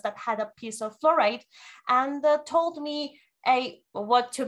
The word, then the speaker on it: fluorite: a necklace made of florite. That is florite, how you say it? Florite? Flowers? No, florite, the crystal. Oh, fluorite. Fluorite, fluorite, okay, fluorite.